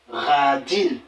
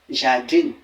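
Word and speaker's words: jardín: prononcer cette lettre automatiquement vous serez en train de dire ja ja jardine par exemple oh c'est faux là le J se prononçant comme le r on dira radin et ici là c'est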